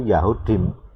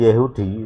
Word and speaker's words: Yahudi: Sama seperti orang Arab mengakui namanya itu Yahudim, Yahudi, bukan Yehudi ya, gitu.